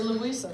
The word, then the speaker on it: Louisa: Louisa on the Bal say Louisa right yeah just Louisa for Texas yeah there